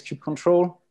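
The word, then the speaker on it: kubectl: so i guess uh back home we say uh cube ctl um uh but yeah i i guess the right way is keep control uh but i think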